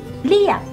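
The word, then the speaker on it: เรียก: when we say words with ra rua, we usually casual our tongue or relax our tongue and just say riek, prik, prik riek mae.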